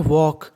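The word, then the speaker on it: walk: पढ़ना है ड देखिए डब्लू ए एल के इसे पढ़ते हैं वॉक इसमें एल हमारा साइलेंट रहता है वॉग वॉग वॉड का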